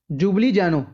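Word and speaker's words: Ljubljana: capital याद रखनी है जुबली जानो जुबली जनो यूरो वैसे य नाम एल तो शुरू हो है पर एल साइलेंट विच ते की होगी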